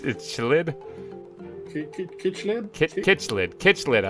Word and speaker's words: cichlid: Kitchlid? Kitchlid. I like how that one sounds. That one sounds pretty close. Google, answer this. Cichlids.